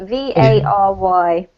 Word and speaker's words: vary: V-A-R-Y. How do you pronounce it? Pronounce it vary, and it rhymes, for example, with the word fairy. So it's not with the accent, it's the vowel sound.